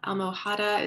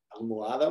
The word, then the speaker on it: almohada: La almohada is pillow. Almohada, muy bien. Don't pronounce the H there. Almohada.